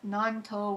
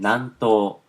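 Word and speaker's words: 南東: east kanji and a south kanji, and so nanto would be how to pronounce it. You can have it pronouncing. I'm going to click on it. Nanto.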